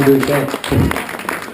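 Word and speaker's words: Busche: You got it right, Matthew Boucher.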